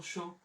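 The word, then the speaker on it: chaud: সেই ও, তাহলে আমরা সে আশের উচ্চারণ জানি এখন তালি বস বরযাত্রী, আ ইউ এর উচ্চারণ জানি ওকার, তাহলে হয়ে গেল শো। আর আমরা জানি এস পে দে তে ইক্স এর উচ্চারণ হয় না, তো এই দে এর উচ্চারণ নাই, তাহলে শো, সে আশ ও ইউ শো।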